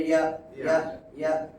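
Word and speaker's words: ياء: আর ইয়া উচ্চারণ হবে ইয়া। ইয়া। ইয়া। জিম, শিন, ইয়া একেবারে শক্ত করে পড়তে হয়।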